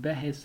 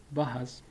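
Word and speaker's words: بحث: word is also called behes as well. Behes, mainly it is pronounced as bahas, but in some regions it is called behes as well.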